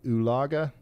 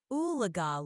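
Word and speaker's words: Oologah: How do the locals pronounce the lake near Talala and Tulsa in Oklahoma? It's called Ulaga Lake. How do you say it? All right, Ryan. The locals pronounce it Oolaga Lake. It's a bit of a tongue twister if you're not from around there, but you got it now.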